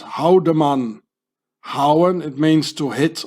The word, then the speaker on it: Haldimann: In Swiss German, you pronounce this Haldemann.